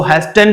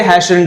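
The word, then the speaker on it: hastened: आया है ठीक है यहां पर जो टी आया है ये साइलेंट होता है इसको आप ध्यान रखेंगे इसको हैस्टेंड नहीं पढ़ देंगे ये हैशंड हैशंड का मतलब होता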